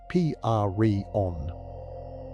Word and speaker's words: prion: We call it a prion, pronounced P-R-E-on.